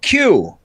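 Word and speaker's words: queue: The word Q is just the letter Q followed by 4 silent letters. Mm-hmm. Waiting in line. Q-U-E-U-E.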